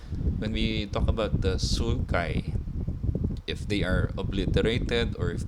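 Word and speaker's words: sulci: go back to the primary sources it's really pronounced the sukai and we see that when we're describing something on Imaging like x uh CT scanner MRI when we talk about the sukai they are obliterated or if they are absent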